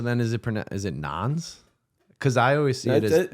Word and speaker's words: Nones: is it is it non's because I always see it no that's pronounced nuns yeah yeah because that's